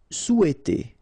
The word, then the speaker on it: souhaiter: Souhaiter. So remember, in French we don't pronounce this H, okay? It doesn't phonetically exist here, so you've got sou, after that you've got e, and then t.